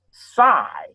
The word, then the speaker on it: psi: And that symbol means, that symbol is pronounced psi.